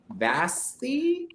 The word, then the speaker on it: Vasti: Let's talk, because you said it was for this web series that you started with your wife, Vasti. Rhymes with frosty.